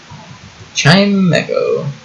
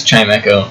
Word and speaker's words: Chimecho: Chimecho or chime CH I think it's chime Echo cuz it's a pun off chime and a pun off Echo chime Echo also I think that's how they pronounce it in the anime kind of wish I